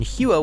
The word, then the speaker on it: Huot: was of kqu origin I believe that the correct pron iation of the name is indeed the French pronunciation huo with a silent T however please correct me